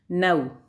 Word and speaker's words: know: इसमें क्या साइलेंट है, नव में आपका के साइलेंट है, तो नव ही बोला जा रहा है।